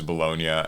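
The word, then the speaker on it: Bologna: people are talking about I had to go to Wikipedia and have it tell me how it's pronounced I'm not cultured um Italian but I saying is it is bolognia and congratulations to Joshua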